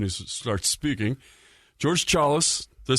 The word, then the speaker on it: Chalos: know as soon as he starts speaking George Charles do I say right chalus that's right man I've heard it pronounced like 30 different ways when I so